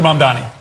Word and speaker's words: Mamdani: The name is Mamdani. Mamdani. You should learn how to say it.